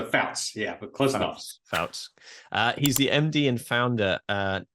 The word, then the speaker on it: Pfautz: Did I pronounce that correct? Close to Pfautz, yeah, but close enough. Pfautz.